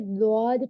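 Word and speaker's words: ضاد: right तो वैसे ही दद को उर्दू में दद बोलेंगे दद जो है अरेबिक में दद बोलेंगे तो प्लीज इसको क्लियर करिए स्ट्रंग इसको क्लियर करके दद प्रोनाउंस करिए क्योंकि अकॉर्डिंग टू मखर इसका साउंड यही निकलता है तो आप देख सकते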